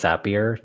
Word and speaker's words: Zapier: well point it out i believe it is zapier just because they say it rhymes with happier so that i learned